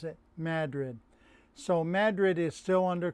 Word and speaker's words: Madrid: The rest of the world pronounces it Madrid, but up in the North Country, they pronounce it Madrid.